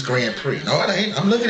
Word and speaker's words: Grand Prix: you try to it's Grand Prix no it ain't I'm looking at it BRX the ex is silent just to let you